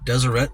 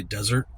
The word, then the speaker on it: Deseret: store in Shoreline called Deseret Industries. I think that's how you pronounce it. Uh my brain always wants to say Desert Industries, but I know that's not what it is cuz it's spelled differently.